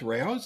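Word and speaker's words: Rao's: R which is r a o apostrophe s Ros or some people don't pronounce it that way but that's the it's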